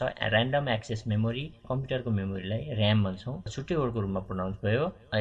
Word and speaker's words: RAM: जस्तो र्याम छ, र्याम आरएएम भन्दैनौँ, हामीले र्याम भन्छौँ। यसको फुल फर्म छ र्यान्डम एक्सेस मेमोरी। कम्प्युटरको मेमोरीलाई र्याम भन्छौँ, छुट्टै वर्डको रूपमा प्रोनाउन्स भयो।